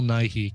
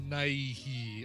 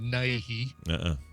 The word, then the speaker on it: Nighy: Bill Nighy. I mean, because you don't pronounce it Nighy.